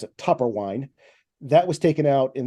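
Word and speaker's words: Toepperwein: the toe part to make sure that people pronounce it topper wine that was taken out in their original uh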